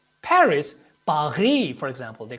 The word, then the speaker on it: Paris: paris if you say paris paris paris for example they call it you know they do not pronounce in french we do not pronounce the last consonant final consonant in french so you know uh